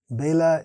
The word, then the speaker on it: Bela: Bela is Bengali pronunciation of Vela, which is another word for time in Sanskrit.